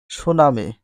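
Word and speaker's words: tsunami: মানে ভাসিয়ে নিয়ে যায় সুনামি সুনামি ইংলিশ বানানটা টি এস ইউ এন এম আই সুনামি এর কোন উচ্চারণ হয় না সুনামি একটি জাপানি শব্দ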